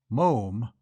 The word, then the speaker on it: Moffam: "Moom?" "It's spelt Moffam, but pronounced Moom." "To rhyme," said Archie helpfully, "with Bluffing'em."